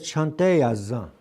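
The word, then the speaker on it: cante yazan: But it's spelled as c e n t e y a z a n. C The letter c is always a ch c h sound. Ch. Always. Always. Always. Always. So heartily Remember heartburn?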